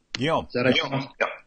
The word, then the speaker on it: Guillaume: Is it Alfred Guillaume? Guillaume. Is that Guillaume. Guillaume. Like our friend Guillaume. It's the exact same word. Okay. That's the French version of William. That's how French people say William.